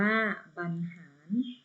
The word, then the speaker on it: บรรหาร: เขา ต่อ ไป ค่ะ บรรหาร อ่าน ว่า บรรหาร แต่ ว่า เฉลย วะ